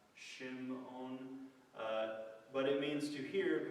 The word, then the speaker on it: Simeon: Then Simeon means heard, hearing. Simon, Simeon. I think it's actually pronounced Shimon.